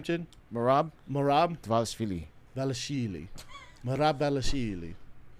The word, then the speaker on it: Dvalishvili: Dvalishvili. Marab Dvalishvili. So you just don't pronounce the D? Mm-mm. Dvalishvili. You got that silent is he D.